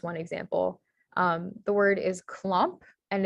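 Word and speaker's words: klomp: with an um the the ah sound is spelled with an o also in dutch the kha sound is spelled with the k and so the correct spelling of clomp would be k-l-o-m-p so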